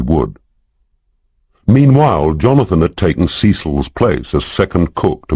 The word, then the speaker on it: Cecil: Melanie Rose taught Bible school and had twin daughters by someone called Cecil, pronounced Cecil, who 3 months ago had taken a return ticket to Eleuthera and thus far had not used the second half.